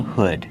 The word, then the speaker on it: hood: This long sleeve shirt has a hood. Kevin, how do you pronounce it? Hood. Use the short uh sound like good. Hood. Not hood, but hood. Make that h sound like good. And wood.